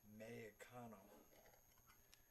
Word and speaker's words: Mexicano: can barely speak it, you basically sound that out as H. So it's Mexicano. The F becomes an H. Or a silent letter.